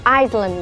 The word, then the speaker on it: island: It's not "i-s-land", it's "island" since the "s" is not pronounced.